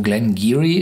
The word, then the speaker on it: Glen Garioch: oben sich ausspricht hier hinten steht lich drauf GE in cheery also Glen gearyy spricht sich das auch und das ist ein